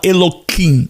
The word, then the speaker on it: Elohim: Só a título de curiosidade, o hebreu, o judeu, o judeu ortodoxo, ele não pronuncia, nós pronunciamos como de fato o nome Elohim. Mas em qualquer leitura da literatura hebraica, judaica, o hebreu ele fala Eloquim.